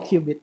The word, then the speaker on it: qubit: Dibacanya qubit, betul.